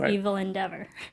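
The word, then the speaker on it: Evelyn Deavor: of her characters so if you actually phonetically pronounce it out loud properly it's evil endeavor I like that part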